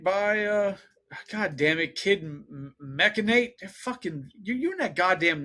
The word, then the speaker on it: Machinate: Machinate. Machinate. That makes sense. There's no E, because I said mechanate and there's an A.